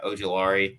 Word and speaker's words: Ojulari: You got Brian Burns, you got Aziz oh my gosh, Ojulari. I can't even pronounce. Yeah, Ojulari.